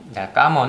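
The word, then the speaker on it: cảm ơn: 언 이라고 하는데 까만 깜 언 은 뭐 쉽게 생각하지만 영어로 기억하시기 좋은걸로 컴 영어로 커뮤니티에 컴온 컴온 이란 굉장히 비슷한 되니 깜 언 이라고 발언 발음 하시면 되구요 까만 이라고 하면 의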